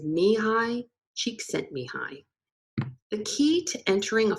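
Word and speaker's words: Mihaly Csikszentmihalyi: with a unique name if you've seen or read the book flow and wondered how the author's name is pronounced here you go it is me hi cheek sent me hi the key to entering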